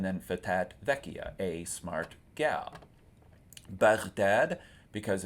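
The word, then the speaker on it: Baghdad: fatya a smart gal bdad because it's the name of a city it's a proper name and it's not Bagdad like you'll hear in English but bad with the accent on the second syllable and then it's a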